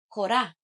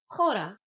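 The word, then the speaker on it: хора: The plural form is kora which has an accent on a when pronounced. If you don't put the accent at the end of the word, it becomes kora meaning people.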